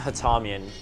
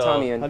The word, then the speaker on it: Hatamian: Yeah, my First name guy's is Hatamian. So, How do Hatamian. you spell that?